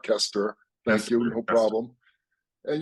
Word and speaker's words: Koesterer: four times a day people don't pronounce it right it's ker thank you no problem